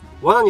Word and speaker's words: wanna: Pronunciation of "Wanna" is not difficult for Japanese Same pronunciation as "罠" You can use "Wanna"